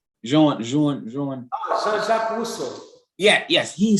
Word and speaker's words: Jean-Jacques Rousseau: As a matter of fact, one of the guys who said that was, you told me his name, how to pronounce his name. Jean-Jacques Rousseau.